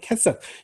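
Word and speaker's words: כֶּסֶף: 캐셉, 요것도 강세가 앞에 있겠죠. 캐셉, 돈, 코 하면은 그렇게 이처럼 그래서 자, 마콤 하면은 콤이 달리다 쿰의 그 쿰입니다.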